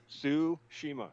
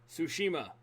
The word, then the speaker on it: Tsushima: can't pronounce that today sushima tsushima that's probably why i was probably trying to over pronounce the t for some reason the t is silent so those two i could